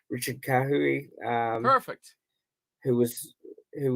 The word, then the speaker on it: Kahui: the bench richard uh forgive me on the pronunciation richard kahui um perfect who was who was um from